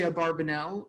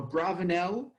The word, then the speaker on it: Abarbanel: be pronounced Abravanel, but we have vowelized texts from Abarbanel's son, and he vowelized it and pronounced it Abarbanel.